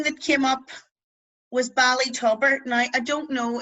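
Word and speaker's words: tobar: bali as we know is town off and tubber as well well so like a whale that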